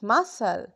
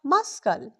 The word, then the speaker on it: muscle: M U S L E muscle not muscal. Notice something we don't clearly pronounce the c in muscle.